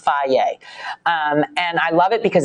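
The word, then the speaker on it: Fage: i eat fry yogurt f-a-g-e it's pronounced faye and i love it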